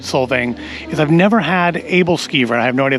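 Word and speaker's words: Æbleskiver: They are Aebleskiver. I asked the gentleman at the window, and he confirmed that I had been pronouncing it correctly.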